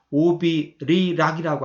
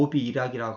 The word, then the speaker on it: 오비이락: 배리자인데 오비리락이라고 않고 오비이락이라고 합니다. 발음이 어렵기 때문에 쉽게 바꾼 겁니다.